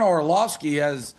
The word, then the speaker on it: Orlovsky: Am I pronouncing his name right, Yeah. Orlovsky?